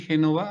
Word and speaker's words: Génova: gastos de misión como es genove una Nayeli Génova así se pronuncia ha subido el dedito Por qué no